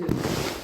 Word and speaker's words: œufs: Et les œufs, dernière chose, les œufs, on dit un œuf, mais les œufs. Un œuf. Les œufs, en pluriel, on ne prononce pas le F. En singulier, on le prononce.